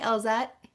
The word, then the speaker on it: Elzette: Well, we'll just start with the first question, which is, do you know what Elzette means? Did I say it right? Elzette? Yes, you said it correctly.